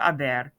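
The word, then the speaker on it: haber: you all have on make sure to write the h but be aware of course that um that a to silent when you pronounce it and be aware that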